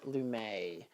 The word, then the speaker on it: Lumet: But yeah, Pawnbroker Blu-ray, and then it's called One Step Further Becoming Lumet. Which I assume is how you pronounce his surname, because it's French.